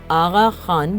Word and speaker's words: آغا خان: خان کا لقب ملا۔ فارسی میں قاف کو غین کے تلفظ میں پڑھتے ہیں، اس لیے یہ آغا خان بولا اور پڑھا گیا، جس کا مطلب جناب